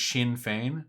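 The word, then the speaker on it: Sinn Féin: It's pronounced Shinfane. Shinfane.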